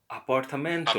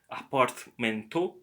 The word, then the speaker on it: apartamento: Apartamento. Apartamento. Apartamento. Notice there is not apartmento, but apartamento.